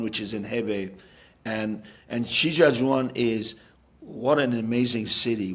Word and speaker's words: Shijiazhuang: as the manager of, I'm probably going to butcher the name, I apologize, Sangzhou. I think that's how you say it. They've had name changes. Um, No, I think and it's the club is Shijiazhuang. yeah, Shijiazhuang, yes.